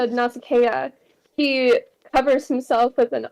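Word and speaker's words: Nausicaa: up to NASA yeah now that I know how to pronounce that because I've been saying NASA this entire um NASA now that ad is when adicus does walk up to nasaka he covers himself with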